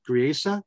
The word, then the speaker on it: Griesa: The second judge, Griesa, is that how you pronounce his name? Grise.